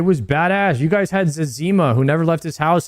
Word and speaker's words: Zezima: Wait, some people say Zezima. I always called him Zazima. Am I saying that wrong? To be fair, I pronounce most things wrong. I will never not say Zazima. Same. When I heard Zezima, I was like, that's wrong, you know? That's not the way that it's said.